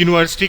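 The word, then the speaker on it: university: उच्चारण यूनिवर्सिटी का, the beginning sound of the pronunciation of this word यूनिवर्सिटी is this pronunciation of this word is ya, and in that case the right word is a.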